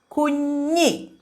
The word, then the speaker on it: Kunyi: It's a little difficult to pronounce. Will you try it? Kunyi is child.